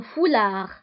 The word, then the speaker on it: foulard: وبالنسبة لهذا الثوب اللي كيرتديوه النساء كيغطوا به الشعر نتاعهم فيسمى un foulard. وبالنسبة للفولاغ تكتب بالدي في آخر الكلمة ولكن لا ننطقها.